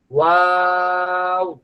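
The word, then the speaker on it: واو: ওয়াও ওয়াওটা ঠোট গোল থেকে শুরু হবে। আবার ঠোট গোল অবস্থায় শেষ হবে।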